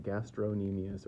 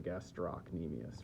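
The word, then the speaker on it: gastrocnemius: Uh, it has a C in it. You can pronounce the C or not. The gastronmius or the gastro nemius right here.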